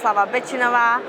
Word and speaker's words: Miroslava Betinova: so I'll just summarize again my name is mlava binova I'm a head of fintech at Griffin bank